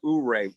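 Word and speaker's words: Ouray: how you pronounce it is it euray or ooray oh that's a neat town right yeah if you guys haven't not seen that when you come in to ooray on that million-dollar highway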